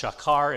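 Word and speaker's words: שָׁקַר: If it's a verb, it's pronounced shakar.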